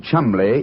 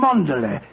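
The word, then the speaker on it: Cholmondeley: Being an American, he had no reason to know that the name Chumley is in no way pronounced the way it is spelled.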